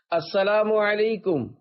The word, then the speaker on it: السلام علیکم: لے۔ 11، سلام اور جواب سلام کا درست تلفظ یاد فرما لیجئے۔ پہلے میں کہتا ہوں، آپ سن کر دہرائیے۔ السلام علیکم، اب پہلے میں جواب سناتا ہوں، پھر آپ